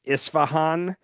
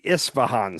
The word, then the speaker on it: Isfahan: It's the I think I think it's pronounced Isfahan. It's the Isfahan site.